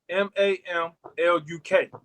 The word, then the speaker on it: Mamluk: For one, the ancient Kemites had slave soldiers, and they were known as the Mamluks or Mamliks. It's some spell it Mamluk.